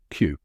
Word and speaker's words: queue: by step that's it even though it has five letters it sounds just like the letter Q now say it with me Q one more time Q